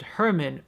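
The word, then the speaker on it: Germán: Spanish movie about a businessman named Herman or her mind spelled with the G in the subtitle so it looks like German but in Spanish that she is like an inch it stood out while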